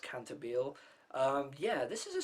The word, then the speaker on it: Cantabile: it'll always be called that but apparently it's pronounced cantabile um yeah this is a series that's kind